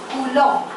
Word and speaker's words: Coulomb: कूलम का spelling बता। COULOMB कूलम। COULOMB कूलम।